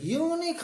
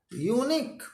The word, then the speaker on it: unique: you this is a unique idea hey unique why you so happy word is